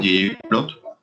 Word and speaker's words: ggplot: Una de ellas se llama gráficos de ggplot, y es por ese comando que en inglés lo pronuncian ggplot.